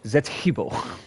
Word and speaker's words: Zetibbo: Yeah, you you got to say it right. It's Zetibbo. Uh who followed Bub down to Egypt once upon a time.